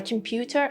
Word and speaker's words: computer: But for computer and computerize, for these O letters, we had Schwa sound.